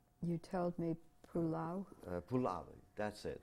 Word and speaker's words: Puławy: Puławy. That's it. How do you right? how did you spell that?